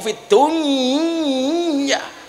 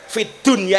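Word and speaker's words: في الدنيا: nopo niku idgam niku Fid Dunya tapi ternyata ulama-ulama kita mengajarkan Fid Dunya itu harus dibaca Idhar bukan Idham Kenapa karena urusan dunia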